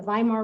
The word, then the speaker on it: Weimar: wilhelm the second and w's in german are actually pronounced like a v so we'll be talking today a lot about the weimar republic and kaiser wilhelm